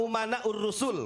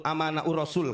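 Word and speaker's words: أمناء الرسل: Al-ulama umana'ur rusul. Walaupun si Bahar salah bacanya. Bukan al-ulama umana'ur rasul. Al-ulama amana'ur rasul katanya. Goblok, itu bukan pinter. Bukan amanah, umana, saya benerin ya.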